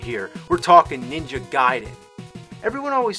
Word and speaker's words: Gaiden: We're talking Ninja Gaiden. Everyone always said Ninja Gaiden, but I know for a fact it's Gaiden.